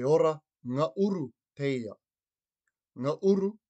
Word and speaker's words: ngauru: Ngauru is spelt N-G-A-U-R-U.